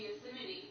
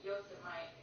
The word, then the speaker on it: Yosemite: Yeah, I always wanted to do a camping trip to Yosemite. Yosemite. It's Yosemite, right? But it's spelled Yosemite.